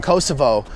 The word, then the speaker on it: Kosovo: I don't know for Albanians, it's not that common to pronounce it Kosovo because they are also Albanians. So. Right, right. And but before... I really want to go there. I heard it's really a beautiful country and interesting. Yeah, I mean, it's a country that has suffered a lot. I mean, part of Albania that has suffered a lot because it's not even a country. Don't have Kosovo is like Slavic pronunciation, but the name in